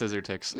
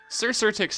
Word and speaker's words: Cxyrtyx: It's not pronounced Scissortix. Sir Sirtix has the special quality about him that his name is spelt like the stupidest way possible.